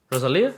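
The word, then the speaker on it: Rosalía: Rosalia? Thank you. Okay. I didn't want to say her name wrong.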